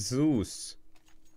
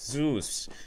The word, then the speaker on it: Zeus: I ever get bored it's z us like okay it's Zeus okay so there you go like this is this is pretty cool I'm learning I'm learning more about Greek gods while playing counter-strike I gotta give it to you guys heads up man best community ever is Zeus so that's how you pronounce it zeus greek greek exactly